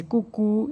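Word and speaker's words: 姑姑: Here G in Chinese it is pronounced as ke. So you can say kuku.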